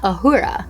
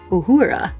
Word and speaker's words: Uhura: complete the series and this one is naoda ahura or uhura do you say niota or nyota depends on